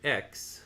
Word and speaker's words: Exe: After crossing the strippling X, E exe is how that's spelled.